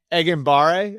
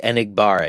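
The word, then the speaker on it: Enagbare: I didn't really know who Eggbare, I think is how I pronounce his name. The defensive end, Kingsley Enigbar. Yeah.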